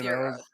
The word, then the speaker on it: gyro: How do you Yeah, how do you pronounce the word that's spelled GYRO? Go litmus test right now. Sorry, what? Is it gyro? Is it euro? What is it? it's euro.